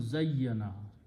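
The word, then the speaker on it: زَيَّنَ: So this will become zayyana. You put a shadda on the middle or tashdid on the middle letter, and when you pronounce it is zayyana.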